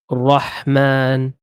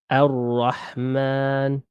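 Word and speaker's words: الرحمن: So how would that be pronounced? Roh. Exactly. Roh. So this is actually saying Rahman. When you say, so we said B here, yeah? Yes. So this is saying Bismi, Bismillahi, Ar-Rahman.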